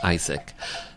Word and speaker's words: Aizic: And Isaac is spelled AIZIC.